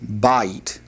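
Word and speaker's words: בַּיִת: And then the last word in this particular vocabulary list is the word for house, which is pronounced ba'it.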